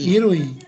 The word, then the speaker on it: 衣類: 衣類、 Irui, dibacanya irui artinya irui itu sesuatu yang dipakai oleh kita ya.